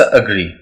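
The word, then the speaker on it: agree: पास word है एग्री, हम पढ़ते इसको एग्री बट इट्स अग्री। Rule के मुताबिक मैंने कहा था कि ए शुरू में आएगा तो हम इसको शीप साउंड प्रोनाउंस करेंगे लाइक एग्री, बट यहाँ पे मैं करूँ अग्री।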